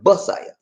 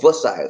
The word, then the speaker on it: Bisaya: It's called a B, not Pasaya, Basaya. Or you try to V with victory, you call it Basaya or Vasaya. It's spelled either way, but no P in there.